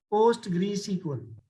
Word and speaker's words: PostgreSQL: you know post grade sql this is a pronunciation post greece equal you know when you have postgresql you can